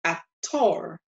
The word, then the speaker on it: actor: one very easy example in English we say actor actor there's an e sound with that all but in Spanish we see a tour a tour now we're going